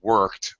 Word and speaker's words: worked: It should be a strong R. British tend to reduce that R sound.